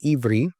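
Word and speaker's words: עברי: In the Hebrew language, it's pronounced Ivri, but it was used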